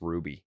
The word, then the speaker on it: Rubby: and Ruby de larusa spelled rubby but pronounced Ruby P Pedro Jr Pedro